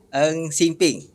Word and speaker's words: Ng Sing Phing: Dan bersama saya hari ini Eng Sing Ping. Ya, betul kan? Pronounce tu. Panggil apa? Betul.